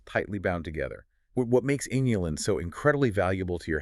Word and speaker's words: inulin: The artichoke is densely packed with a unique, soluble prebiotic fiber called inulin. Inulin, spelled with an I, just to be totally clear, not insulin.